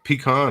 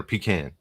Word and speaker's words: pecan: It doesn't matter how you say it, but like, Chance, do you say pecan or pecan?